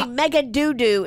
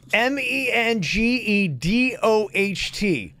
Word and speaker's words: Mengedoht: How do you say Megadoodoo instead of Megadote? Yeah, it's Mengedoht. Mengadote. Deidre Mengadote is what it is.